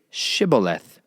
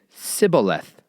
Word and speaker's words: Shibboleth: If he said, "No," then they would say to him, "Please say Shibboleth." And he would say Sibboleth, for he was unable to pronounce it right.